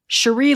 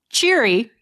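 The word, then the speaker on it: Cheery: Number nine, Sheree Little Bottom. Cherry, but pronounced Sheree Little Bottom, is the forensics expert on the watch, ranking below Vimes and detritis.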